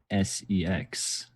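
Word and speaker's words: CeX: X otherwise known as se x CX it begins with a see yeah but you still pronounce it sex I don't like this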